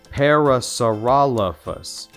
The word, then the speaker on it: Parasaurolophus: head crest shot stiff tail say my name parasarala fuss q is for quetzalcoatlus i am a flying